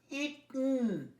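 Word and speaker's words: eaten: তেমনি বহু ওয়ার্ড আছে পাস্ট পার্টিসিপলটা উচ্চারণ, যেমন রিটন, ইটন, তো মনে রাখবে রিটন, ইটন, হিডন, তো ইটা সাইলেন্ট হয়ে যায়।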